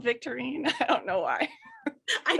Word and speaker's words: Victorine: But if you think of Victorine, it rhymes with Listerine.